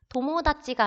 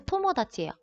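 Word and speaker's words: 友達: 우리가 도모다치가 아니고 토모다치예요.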